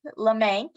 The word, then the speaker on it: LeMank: And my last name looks confusing, but if you just remember, it rhymes with bank, LeMank.